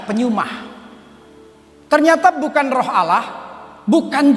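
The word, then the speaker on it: πνεῦμα: Roh di sini dalam bahasa Yunani pneuma tulisannya, bacanya pneuma.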